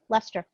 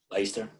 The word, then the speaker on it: Leicester: It's Leicester. It's It's Leicester. Leicester. It's Leicester. Is it Leicester? It Oh, is it's Leicester.